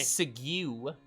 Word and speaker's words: segue: Segue. I segue into another. You can pronounce it as sigu.